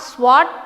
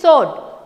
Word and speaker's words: sword: The pronunciation of sw is not swad. It is sword. W is silent.